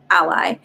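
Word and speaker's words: Alai: like joseph lay ally a-l-a-i is how he spells his name but he pronounces ally it doesn't mean that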